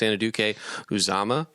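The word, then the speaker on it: Anudike-Uzomah: I like Felix Anaduke Uzama.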